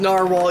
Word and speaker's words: narwhal: was gonna be glorious yeah i know it's pronounced narwhal eat a dick the big ones might be